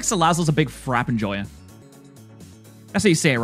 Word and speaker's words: Salazzle: Because I feel like Salazzle's a big frap enjoyer. That's how you say it, right? I know it's got the E, but it's more like a silent E.